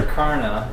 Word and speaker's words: Texarkana: You're going to have to pronounce that one for me. Texarkana is, I believe, the way it's pronounced.